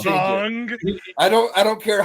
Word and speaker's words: Aang: Yeah, it's pronounced Ong.